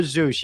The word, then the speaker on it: Z3US: the other one you said Zeus uh or Zeus yeah z3us is how it's spelled okay so you are gonna have to